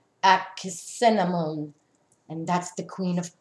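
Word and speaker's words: Ankhesenamun: Also, the King Tut was also the son of Akhenaten and Nefertiti, and he married his sister, which her pronunciation is Akhenamun, and that's the Queen of Cups.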